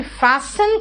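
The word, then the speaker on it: fasten: फास्ट मतलब तेज, लेकिन फैशन का मतलब देखो यहाँ पे टी का प्रोनाउंसिएशन नहीं होगा।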